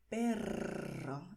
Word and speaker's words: perro: Y la gente quiere saber cómo decir gato en español y perro. Y aquí volvemos a tener la vibración.